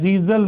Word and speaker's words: Zeisel: तो इसकी रिएक्शन जब हम HI से करते हैं, इस रिएक्शन का नाम होता है जीजल मेथड। जीजल मेथड, ZEISEL, बिल्कुल वही स्पेलिंग है जो डीजल की होती है।